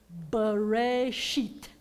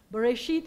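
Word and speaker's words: בראשית: The word is Bereshit. Bereshit. Bereshit is the very first word in the Torah.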